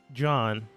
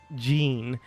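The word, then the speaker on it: Gean: came into town and the merchant named uh John see you had to think for a second no I just tried to pronounce it the way you guys pronounce it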